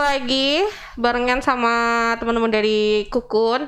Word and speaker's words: Kokoon: bareng sama temen-temen dari kukun ternyata bacanya tuku kuno Eko gunung bukan kokon bukan kalkun bingung kan kamu pasti juga baru tahu kalau bacanya kukun Ya kan hahaha ya udah